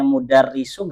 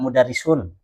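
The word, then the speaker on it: المدرس: Kenapa jenengan bacanya mudarisu enggak mudarisun? Karena ada alif lam.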